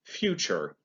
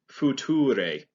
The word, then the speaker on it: future: phonetically it would be future and that's not correct at all it's future uh the t actually makes more of a ch sound and the e at the end is not pronounced um another word would